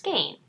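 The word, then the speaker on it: skein: So I played skayne, and it's pronounced skayne.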